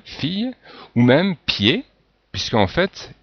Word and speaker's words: fille: se retrouver par exemple ici dans fille, donc le i, deux l, les deux l se prononcent ye, fille, ou même pied, puisqu'en